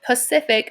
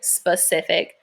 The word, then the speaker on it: Pacific: And for this last one, it says Pacific, but a lot of people might say specific. So you should be careful and slow down. Make sure you realize, okay, there's not an S there.